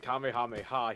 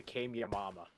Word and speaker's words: Kamehameha: wrong on purpose, but instead of saying it Kamehameha, he called it the Kyama.